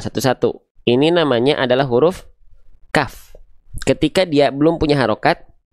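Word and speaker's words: كاف: Huruf kaf itu dilafalkan sama kayak kita melafalkan huruf K pada abjal alfabet ya. Buku, kaki, kaku. Nah, itu adalah huruf kaf. Namun yang akan izin kita highlight ya dari huruf kaf ini pastikan ketika kita melafalkan kaf dia keluar perecikan nafasnya.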